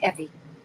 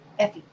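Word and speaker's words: Eufy: It's I think it's Effie.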